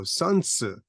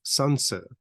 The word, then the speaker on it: Sun Tzu: Sun Wu but is a title right so sansu is more closely the way it is pronounced um Confucius that we say in English